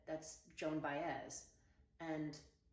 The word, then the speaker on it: Baez: who it was and she said that's Joan bz and it's pronounced bz but she didn't know that um I learned